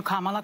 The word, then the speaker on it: Kamala: Let's, Kamala, and I'm calling you Kamala, because for all of those who are mispronouncing it, I want you all to know how to say it.